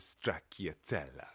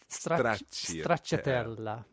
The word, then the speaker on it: stracciatella: You know that all our Italian listeners just rolled over and died at your pronunciation just then. How should I say it? Well, I think you could say straccia. That would help.